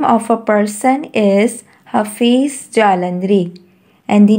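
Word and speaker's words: Hafeez Jalandhri: pakistan and the name of a person is hafiz jalandri and the name of a person is hafiz jalandri how to pronounce this name hafiz jalandri who wrote national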